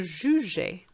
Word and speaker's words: jugeais: Je jugeais. So I'm drawing your attention here to the E next to the G so that you have the pronunciation je.